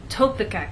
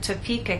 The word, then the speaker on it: Topeka: you can be misunderstood for example if you tell any American that you have friends in Topeka Kansas they're going to look at you and ask what country is that in what continent is that on but if you move the stress to the correct place and try again tell the Americans that you have friends in Topeka Kansas now they'll understand there is a state